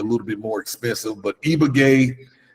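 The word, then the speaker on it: Ibagué: um there's a city that we stayed called eaay that's spelled i b a GU e eaay um I mean you can find three bedroomroom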